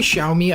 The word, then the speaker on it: Xiaomi: This is a phone that came out a little bit ago, and usually Xiaomi, I believe that's how you pronounce the company name, copies Apple.